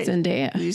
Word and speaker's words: Zendaya: Zendaya. Do you say Zendaya or Zendaya? I say Zendaya. I say Zendaya too. But Who says Zendaya? I've heard a lot of people say Zendaya.